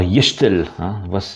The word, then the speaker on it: Gestel: Alors, Yechtel, voilà sa prononciation en breton actuellement.